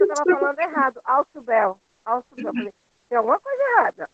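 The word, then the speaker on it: Ausubel: Alzubel, é como se escreve, Alzubel. Aliás, não é nem Alzubel. Alzubel, é Alçubel, né?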